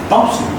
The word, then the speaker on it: possible: Possible. Don't say possible. possible. No. No way. It's possible. I is a reduced sound and possible. I isn't there, right?